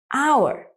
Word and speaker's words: hour: Sometimes you can find a silent H in the beginning of a word. For example, the word hour.